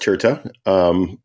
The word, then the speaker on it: Tirta: So first of all, pronounced Tirta, and it's It's a venture firm that I formed with my partner, Justin Yuan, about 2 years ago.